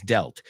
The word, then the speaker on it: dealt: Yesterday I dealt with. Aunque se escribe dealt, es dealt. O sea, en tu cabeza, tienes que ver esa palabra sin la A, como si fuera D-E-L-T.